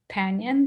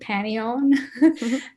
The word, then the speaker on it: Panion: So I'm the founder and CEO of Panion, though I like the way Harry pronounced it, Panion.